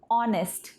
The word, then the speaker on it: honest: ऐसे बहुत सारे वर्ड्स हैं जिसमें आपको H का प्रोनंसिएशन नहीं करना पड़ता है, जैसे कि ऑनेस्ट, ये भी एक ऐसा ही वर्ड है।